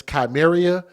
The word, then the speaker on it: Ky'meria: Police say he then admitted to striking the little girl, and her name is Ky'meria, Germany. Ky'meria is K-Y apostrophe M, Ky'meria, K-Y apostrophe M-E-R-I-A. So that's how you pronounce it.